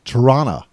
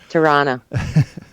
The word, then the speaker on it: Toronto: i lived in toronto more accurately said torana t-a-r-a-a-n-n-n-a toronto turana well i'm on